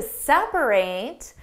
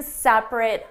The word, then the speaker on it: separate: How do you pronounce this word? My parents are going to separate and live in separate homes.